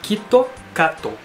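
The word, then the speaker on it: キットカット: o seguinte porque aqui no Japão ele fala kit cato tá kit cato se pronuncia o o KitKat aqui no Japão e aqui no Japão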